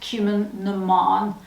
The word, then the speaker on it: Cumann na mBan: It's pronounced Cumann na mBan.